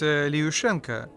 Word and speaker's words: Lyushenko: How do you say it? Actually, it's Lyushenko. But just call me.